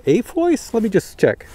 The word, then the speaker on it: AFOIS: makes this is called a voice let me just check a-f-o-i-s a voice that's how I pronounce it I don't know if